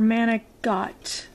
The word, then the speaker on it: manicotti: to be making some manicotti or manic dot is the way it's pronounced in Italian so we're gonna fill